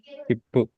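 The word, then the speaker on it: ヒップ: Hippu. Yes. It's Right? We don't read this as kitsupu. It's hippu.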